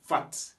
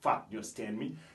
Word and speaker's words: fat: après cela nous avons fat et on prononce toujours la dernière lettre en anglais on dit pas fa bah fat fat ça veut dire